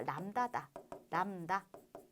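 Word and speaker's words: λ: 자, 그리스 문자가 되는 것이고, 발음이 뭐다? 람다다.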